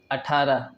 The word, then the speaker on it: اٹھارہ: بعد ذلك اٹھارہ اٹھارہ، بدون الشد على ت، بعضهم يقرؤون مع الشد وهذا خطأ. اٹھارہ اٹھارہ، هذا نطقه الصحيح.